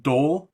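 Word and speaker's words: Dhole: But I do like that Dole is actually spelled D-hole.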